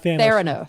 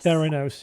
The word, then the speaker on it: Theranos: So you're mispronouncing Thanos. No, not Thanos. Theranos. Yeah, it does sound not like Thanos.